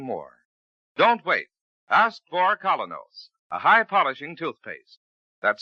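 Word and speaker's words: Kolynos: Ask for Colinos, a high polishing toothpaste. That's spelled K O L Y N O S.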